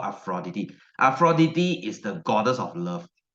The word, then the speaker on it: Aphrodite: is not pronounced as Aphrodite or aphrodita is pronounced as a fraudide this is the real Greek pronunciation right it's called aphrodity aphroditi is the goddess of